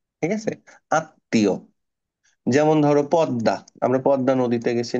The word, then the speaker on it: পদ্মা: জন্য আমি কি বলেছিলাম শব্দের মাঝখানে বা শেষে যদি ম ফলা আসে তাহলে ওই ম ফলার কারণে উপরে যে লেটারটা থাকে ওটা ডাবল হয়ে যায় তাহলে আত্মীয় পদ্মা হুম